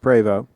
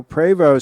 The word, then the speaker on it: Prevost: In the case of a Prevost, some people call it Prevost, it's actually pronounced Prevost. In the case of a Prevost sells these bus bodies, to the conversion companies.